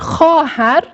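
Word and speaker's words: خواهر: Haer böyle yazınıyor ve okunmuyor. Haer diye okunuyor.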